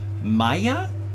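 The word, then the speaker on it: Mejía: And Joshua Maya, M-E-J-I-A. Now with a J, that's typically pronounced with a Y sound in a not so much English, though of course it's in there too.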